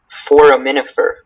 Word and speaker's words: foraminifer: This word can only be it can be pronounced foraminifer or foraminifer.